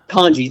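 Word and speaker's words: Tonje: Tanji, thank you.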